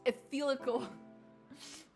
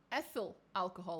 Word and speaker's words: ethyl alcohol: Ethyl alcohol, apparently, is how you say it in English. Or ethanol. Ah, that's probably easier, yeah. Sorry, in Portuguese we don't say it like that.